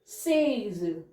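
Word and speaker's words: seize: ठीक है नेक्स्ट है 16 उसे बोलते हैं सेज सेज एस ई आई जड ई सेज जैसे थैज था ये 13 को सेज 16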